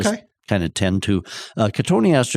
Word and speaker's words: Cotoneaster: Cotoneaster is the one that, if a person were to look at how do you spell it, it would sure look like it should be cotton Easter.